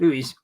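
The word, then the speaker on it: Luiz: injured Louise oh how do you say Louise Lewis Douglas Louise right Louise and then Sarah you've got all those players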